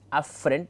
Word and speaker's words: afferent: These two, the pronunciation of both are somewhat confusing. One is afferent, the other one is efferent.